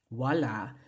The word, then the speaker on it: wala: different stress accent because there's also wala, which means nothing, but the stress goes on the last syllable, la, right? Wala, that means nothing, but wala, there's actually no stress on the last. The stress is on the first, so watch that.